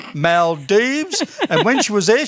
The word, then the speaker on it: Maldives: just come back from the maldives that's how you say it fred mel deebs and when she was